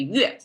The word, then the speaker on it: 钺: That together means pronounced as a yue, which lent to the sound of this thing.